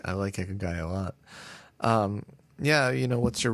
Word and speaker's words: ikigai: Do you know how to pronounce it? Ikigai. Ikigai.